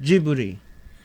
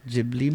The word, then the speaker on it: Ghibli: to do Ghibli because that's how the Japanese would say it because it's pronounced jibbery oh okay they probably don't want to say it like Ghibli but to be fair